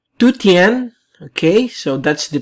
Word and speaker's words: Dujuan: not the right pronunciation since it's a chinese name so it means it must be pronounced as tuttien okay so it means